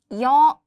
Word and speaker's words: 여: 2 short strokes instead of 1 give it a Y sound. 여. In Korean, vowels always pair with a consonant or the placeholder 이응 if there's no consonant. 여.